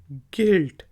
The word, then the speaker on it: guilt: Word है GUILT, गिल्ट। तो you silent है, गिल्ट।